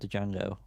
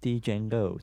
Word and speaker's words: Django: So Django, which I know is not how you pronounce it, by the way. It's Django.